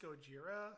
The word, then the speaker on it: Gojira: I'm sorry. Gojira. Nani. It's pronounced Gojira.